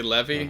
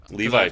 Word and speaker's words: Levi: when frickin' Captain Levi, I don't know if you say Levy or Levi, but... Levi, people say Levy? I just have a friend that's spelled exactly the same, and his name's Levy, so I get confused.